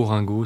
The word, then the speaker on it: Orengo: Oran oant bonsoir Frédéric ça se prononce Orango ou Orango ça dépend en fait dans le sud on dit Orango ah ou et dans le Nord on dit Orango donc on peut dire les deux ici on est plutôt